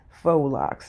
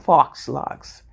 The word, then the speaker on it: faux locs: foe okay so that is the proper way to pronounce that word faux Locs not Fox locks and you know sometimes people they say it's so hard like you know making sure that they pronunciated it but it's not Fox locks it's faux Locs Okay so um what